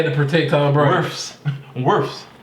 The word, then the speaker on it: Wirfs: Worfs. Like Smurfs, Worfs.